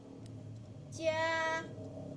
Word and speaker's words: 加: 加。 Oke, 很好。第7 nomor 7。请。请，对。加。请, jadi jelas ya, 加 bacanya C, Q bacanya CH ya.